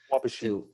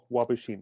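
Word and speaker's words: Waubaushene: Wabashine. There you go. You got it. Phil got it. Wabashine. It's like Kincardine. Yeah, it's like Kincardine. Wabashine.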